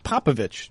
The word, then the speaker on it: Popovich: you just got to get ick out of your out of your uh it's itch itch you got to get popovich you know just pretend